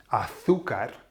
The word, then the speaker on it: azúcar: Why is it that when you say azúcar, why is it that we're putting the accent on the U?